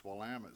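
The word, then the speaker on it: Willamette: to Oregon from Texas and they never could pronounce wamit so they wrote a song in order to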